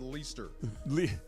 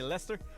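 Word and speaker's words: Leicester: I was laughing at you like having to pause before you said Leester. See? Well, it's got an I in it. How was you going to say Lester?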